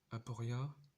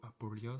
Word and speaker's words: Aporia: Dans l'épisode où Aporia, ou Apolia, ça dépend comment vous le prononcez, affronte Zone.